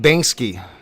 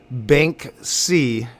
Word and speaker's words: Banksy: People think I'm saying Banksky. All right, I see what you're saying, Puff. I am saying it wrong, and I'm thinking that I'm saying it right. Banksy. I think I'm saying it right sometimes and wrong sometimes. I think I'm adding an extra K occasionally, or most of the time.